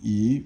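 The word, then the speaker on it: 以: And then yi means third tone, it means so you can do something.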